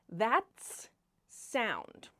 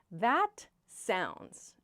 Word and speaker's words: that sounds: Sometimes I hear learners say, "That's sound." Where they they change the position of the S. "That's sound" is not correct. "That sounds" is how we express this reaction.